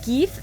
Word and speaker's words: GIF: And GIF is pronounced as ge.